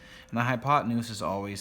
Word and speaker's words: hypotenuse: The other side over here is the hypotenuse.